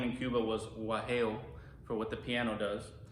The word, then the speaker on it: guajeo: The original name in Cuba was guajeo, for what the piano does, right? And that's spelled G-U-A-J-E-O.